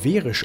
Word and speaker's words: Hverir: This is Hverir, pronounced “Verisch” in Icelandic, one of the most famous high-temperature areas in Iceland.